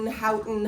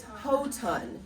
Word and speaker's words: Houghton: Everyone says Houghton, Houghton, but it's Houghton. And I always joke that if you don't know how to pronounce it, just think of a ton of hose.